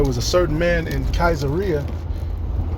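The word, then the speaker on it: Caesarea: came out of Kaiser I looked at the pronunciation it says kaisera so I'm going to go with that acts 10:1 there was a certain man in kaisera called Cornelius a centurion of the band called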